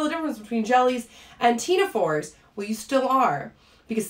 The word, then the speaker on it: Ctenophora: reason that they're called tina fours is that they have what's called teens so again i'm i'm not pronouncing the c it's not teens right i'm just pronouncing the t the c is silent so it is considered 18.